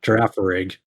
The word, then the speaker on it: Girafarig: Yeah, well, how do you pronounce the Girafarig? Is that the name of Girafarig, the yeah. Girafarig.